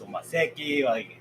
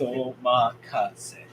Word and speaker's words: Omakase: Still, a lot of people asking me what's Omakase, and some people what's Omaseki. They don't even pronounce well. So it's Omakase.